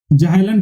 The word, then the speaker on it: Zahlen: ZAHLEN, जाइलन कहेंगे क्योंकि ये एक जर्मन वर्ड है।